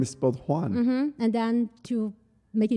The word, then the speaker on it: Juan: a man's name yeah it's j-u-a-n j-u-a-n so it's like juan oh yeah so i get that all the time i know oh your name is spot juan and then to make